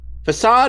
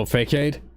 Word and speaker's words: Facade: Facade is actually a Magypsy. Oh, Fakeade?